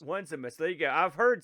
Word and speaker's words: Onesimus: uh this guy's name I would call it just onesimus one's a mess there you go I've